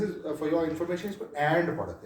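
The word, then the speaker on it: v.: नहीं पढ़ते this is for your information इसको एंड पढ़ते हैं हमेशा इसको एंड पढ़ते हैं या हम यहाँ पे वर्सेस इसलिए पढ़ते हैं कि अगले को पता लगे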